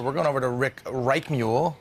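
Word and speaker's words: Reichmuth: We need to find out more, so we're going over to Rick Reichmuhl, right? I messed him up 3 times yesterday, and it's Richmith.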